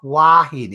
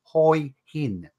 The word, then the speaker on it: Hua Hin: If you're living in Thailand, it's called Hoi Hin. It's called exactly how it's spelled, Hoi Hin, not Hua Hin. It's Hoi Hin.